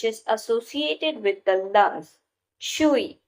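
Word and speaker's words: 吹: Chui, pronounced like chui with a forceful exhale, which is associated with the kidneys.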